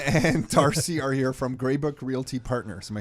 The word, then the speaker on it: Greybrook: then so dylan and darcy are here from gray book realty partners am i saying it right that's